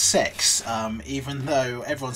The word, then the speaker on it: CeX: cex or which i believe uh is actually pronounced sex um even though everyone says cx but it's actually technically called sex uh for